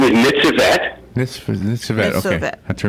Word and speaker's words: Nitzevet: And that's how do you pronounce her name again? Her name is Nitzevet.